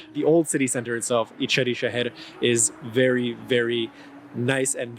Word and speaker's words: İçeri Şehir: Pronounced quickly, it's İçeri Şehir.